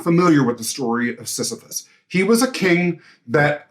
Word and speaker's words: Sisyphus: I'm probably going to pronounce his name wrong, but Sisyphus.